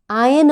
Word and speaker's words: iron: iron बोले, press नहीं, कपड़े इस्त्री के लिए। और iron यहाँ आर साइलेंट है।